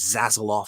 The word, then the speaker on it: Zaslav: I think that it is Zaslav.